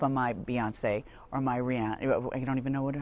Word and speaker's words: Rihanna: I am not up on my Beyonce or my Rihanna. I don't even know how do you pronounce her name? Rihanna.